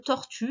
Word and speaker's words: tortue: C'est un E muet dans tortue, mais il faut qu'il soit là. Donc ça m'étonnerait que tu y aies pensé. En tout cas, voilà, sache-le, tortue, il y a un E muet à la fin.